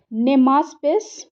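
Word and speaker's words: Cnemaspis: नेमास्पिस, सी यहाँ पे साइलेंट होता है उसको, तो नेमास्पिस रसीदी recently in news is a species of नेमास्पी Rashidi.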